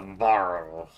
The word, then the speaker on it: Varro: Dr. Varro, who rhymes with snarl.